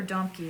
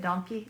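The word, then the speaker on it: Domke: nothing are these little i think they're donkey let me make sure yep yeah i think that's how you say it donkey it's this brand it's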